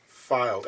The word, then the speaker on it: Fylde: This is a Fylde. Yes, that's the way it's pronounced. Fylde, F Y L D E.